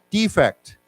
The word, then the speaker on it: defect: one more time defect defect and then let's say it as a person to flee your country to run away from a country defect defect okay so the accent is on the second syllable okay so same word